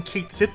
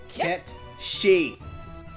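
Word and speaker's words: Cait Sith: I don't remember getting Kate Sith before coming to this town. Ket she. Either way. I will fight anyone else otherwise. It is Ket fucking she.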